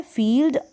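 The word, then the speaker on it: field: फील्ड। एल और डी जो दे रखा है, इसको आप एल को तो आधे ल के रूप में और डी को ड के रूप में प्रोनाउंस करेंगे। फील्ड हो गया।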